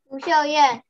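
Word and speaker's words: Lu Shiow-yen: Lu Xiao Yan.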